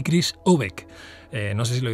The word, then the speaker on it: Aubeck: ¿Chris Obeck? Sí, Chris Obeck.